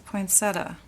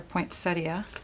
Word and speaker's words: poinsettia: It's a poinsetta or poinsettia, depending on how you pronounce it.